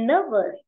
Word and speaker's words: nervous: And nervous, nervous ở đấy trọng âm rơi vào âm tiết một.